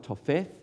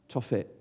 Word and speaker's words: Tophet: It probably looks like Topheth, but it's in Hebrew, TH is usually pronounced T, Tophet.